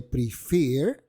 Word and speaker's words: prefer: Fíjate que listen tiene el estrés, la fuerza, en la primera sílaba, mientras que prefer la tiene en la segunda.